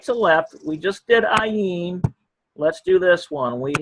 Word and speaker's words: ayin: Then we have something called ayin. Okay. By the way, ayin is a silent letter, just like aleph is up here. Silent letter. In other words, if there is a vowel pointing around it, you don't hear the consonant sound at all. It defaults right to the vowel sound.